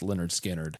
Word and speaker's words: Lynyrd Skynyrd: and they narrowed it down to nine for pronounced Leonard skinnard in this song Pretty Simple the lyrics are